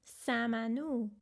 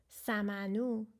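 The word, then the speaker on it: سمنو: Samanu. 3 syllables. S-a becomes sa, m-a becomes ma, n-u becomes nu. Samanu.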